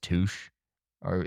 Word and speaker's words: Touche: for these people that their last name was Touch or and it looked it was spelled Touche.